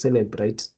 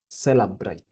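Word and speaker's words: Cellebrite: Today is when I've noticed that we don't pronounce this word as celebrate but celebrate that is from um honorable babu.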